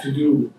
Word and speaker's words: Todo: still failing, and offer Todo script as a solution. Not to do script, it's Todo, that's how it's pronounced, although it's easy to mispronounce it.